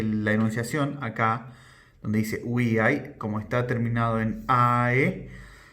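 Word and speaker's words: via: Por ejemplo, vemos acá un sustantivo uia. Recordemos que la v corta se pronuncia como u, uia, uiai, femenino, y esto significa calle, o también lo podemos traducir como camino.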